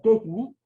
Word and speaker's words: quechni: Quechni es una palabra aguda, no es grave. Si yo la pronuncio como grave, diría quechni. Y si yo digo así como quechni, pues no tiene sentido, ¿no?